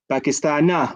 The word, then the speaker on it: باكستان: Pakistana, with fatha, yeah? No, it's kasra. Okay, but remember Pakistana is from the mamnu' min as-sarf. Yeah, so it can't end with a kasra, can it?